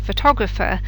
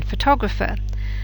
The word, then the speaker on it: photographer: it isn't in transportation similar with a photograph and photographer um the stress is on the first syllable in photograph but it isn't in photographer say these aloud and